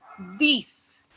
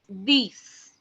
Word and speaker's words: dix: 10 is written down as DIX, and which is being pronounced as these, these.